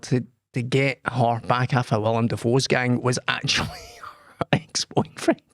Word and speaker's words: Willem Dafoe: You can't say William Dafoe as your fucking opening gambit and then every other mention of fucking Willem Dafoe you say it properly.